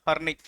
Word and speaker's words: Horne: Then next one, for the prevention of the fraud anta, for the prevention of the fraud, Guilford Motors versus Horney, HORNEY, honey, R is silent.